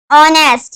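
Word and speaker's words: honest: is dash ऑनेस्ट मैन ऑनेस्ट यह यहां पर ए है लेकिन ये एज साइलेंट है और यह ओ यह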